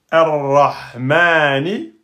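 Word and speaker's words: الرحمن: donc je prononce a, mais je prononce que a. Et ensuite, je vais sur la troisième, R-Ra, et je mets bien la shidda. C'est pas R-Ra, R-Ra, ar-Rahmani.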